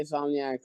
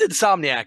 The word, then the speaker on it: Insomniac: I heard you say Insomniac a lot that I that was the one or two times I for you say insomnia but it's okay yeah I yeah it's Insomniac if I've been saying